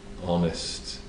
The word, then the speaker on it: honest: well in this case the H in honest is silent it sounds like Hest